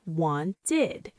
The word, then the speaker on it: wanted: The first sound is id. This happens when a verb ends with a T or D sound. For example, the verb want, W-A-N-T. It ends with a T sound, so we say wanted.